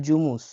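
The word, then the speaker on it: жумуш: চাকরি কাজ বা চাকরিকে কিরিজ ভাষায় বলা হয় জুমুস জুমুস লিখা আছে দেখুন জুমুস জুমুসকে ভাঙলে কি হয়?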